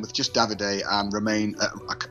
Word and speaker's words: Romain: just david a and romain it's spelled or arrow m-a-i-n i think it's roma i think it's their version of norman jerome he's the only